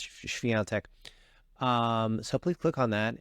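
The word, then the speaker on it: Świątek: We cover so much Iga Swiatek, as people sometimes say Iga Swiatek, as Americans say, but of course it's Swiatek.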